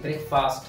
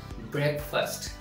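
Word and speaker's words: breakfast: यू are probably मिसप्रोनाउंसिंग आप सोच रहे होंगे कि ये ब्रेकफास्ट है बट ये ब्रेकफास्ट नहीं है इसकी सही प्रोनाउंसिएशन है ब्रेकफास्ट to syllables okay ब्रेकफास्ट ब्रेकफास्ट means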